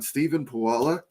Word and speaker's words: Stephen Pulava: Stephen Pulava. That's the best way to say it. Stephen Pulava.